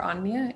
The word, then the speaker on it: Anja: So I am or Anja in the Finnish pronunciation. Either one is fine.